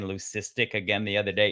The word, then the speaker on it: leucistic: It's a hard K, like leukocytes, like white blood cells, like leucism. It's not leucism. And even on the internet, if you don't go to like the third like way to pronounce it, they'll say leucistic. It's not it's leucistic. It's like leukemia, right?